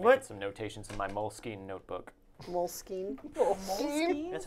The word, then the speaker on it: Moleskine: Some notations in my Moleskine notebook. Moleskine? Moleskine? That's how it's actually pronounced. It's Moleskine.